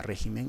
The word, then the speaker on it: régimen: tienes otro ejemplo mira piensa en la palabra régimen la sílaba tónica de la palabra régimen esta red de acá pero qué pasa si